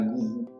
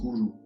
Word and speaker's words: guru: D'abord, ça se dit pas gourou, ça se dit gourou. Ça se prononce avec un minimum de respect pour le son qui a été forgé.